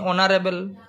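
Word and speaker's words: honorable: এটা এন বসেছে তেমনি অনারেবল ঠিক আছে এন বসলো কেন কারণ অচ্চারণ হচ্ছে এইচ টার উচ্চারণ হচ্ছে না এরপরে আসি এইখানে এখানে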